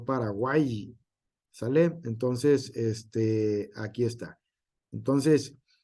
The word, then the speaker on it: Paraguay: Se pronuncia como I, no Paraguay.